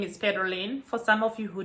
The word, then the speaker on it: Pedrolin: So at the end, it's not an M, it's an N, Pedrolin. So normally if you want to say my name correctly, you have to be a little bit faster when pronouncing it.